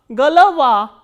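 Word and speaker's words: голова: G, o, l, o, v, a, and a is stressed and these 2 o are unstressed. So, these unstressed o will be pronounced as a. So, g, l, va, galava.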